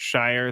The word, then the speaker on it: Shire: It just is unfortunate for the coach Shire that his name rhymes with crier.